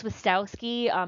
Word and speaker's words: Swastowski: not bad if you split it into three parts swiss as in swiss cheese tau rhymes with cow and ski like ski down a mountain if that's still difficult